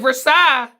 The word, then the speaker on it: Versailles: And they're like, yeah, that's Versailles. I'm like, Versailles? That's 2 syllables. Why does this thing look like it's got like 6 syllables?